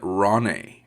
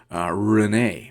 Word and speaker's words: Renee: I was actually pronouncing it Ronnie, but then I watched one of her videos today, and she's pronouncing her name Renee.